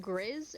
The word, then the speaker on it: Griz: Was it Griz or Chris? Griz, g r i z.